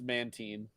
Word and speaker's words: Mantine: It is a hard I, but Mantine sounds better. Yeah, it is actually pronounced Mantine.